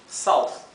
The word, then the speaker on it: south: th, que significa sur, south. Recuerden que en inglés la O con la U se pronuncia au, ¿sí?